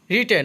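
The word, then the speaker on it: written: রিটেন অর্থ লেখা, এখানে প্রথম ডব্লুর উচ্চারণ হবে না।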